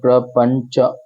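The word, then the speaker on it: प्रपञ्च: कोशिश करेंगे तो देखिए प्र प फिर ण और उसके नीचे च जुड़ा हुआ है तो प्र पंच तो प्रपंच या प्रपंच बना तो प्रपंच के बाद में हमने कॉमा लगाया।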